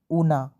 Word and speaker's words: Oona: And daughter ऊना, इसकी spelling है OONA, ऊना, ठीक है।